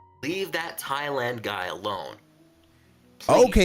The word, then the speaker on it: Thailand: poor individual from Thailand, not thand like this is not from your thighs. Captain, do you know what they do in Thailand? I mean, I I agree with you that the pronunciation that Thailand is the pronunciation, but the the kind